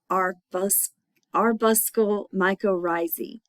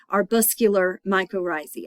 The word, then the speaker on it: arbuscular mycorrhizae: And then the Glomeromycota are, we mostly recognize those as the AM fungi, and that AM stands for arbuscle mycorrhizae. Anyway, they're arbuscular mycorrhizae, I think is how you say it.